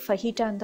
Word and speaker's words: fajita: ஸோ இந்த இதோட spelling வந்து ஃபஜீட்டா அப்படின்னாலும் இதை ப்ரொனவுன்ஸ் பண்ணுறது வந்து ஃபஹீட்டான்னு தான் சொல்லுவோம்.